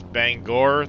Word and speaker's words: Bangor: And it's Bangor. There's an O, not an E.